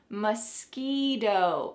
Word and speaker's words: mosquito: Notice the pronunciation mosquito. Again, that final T is changing to a D sound.